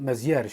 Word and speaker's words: Mézières: ulubiony Europejski rysownik ale myślę że tutaj Meier Meier się wymawia Słuchajcie Nie pytajcie mnie